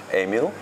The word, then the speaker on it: Emile: to pronounce my name because my name is french emil and is like a real dutch but you're doing great